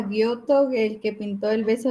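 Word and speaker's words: Giotto: Si no estoy mal, creo que se pronuncia Guoto, el que pintó el beso de Judas. Ajá. Gioto.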